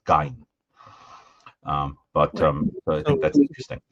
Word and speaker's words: Gein: So you see people are saying who speak German, the audience is saying that it should be pronounced Gein.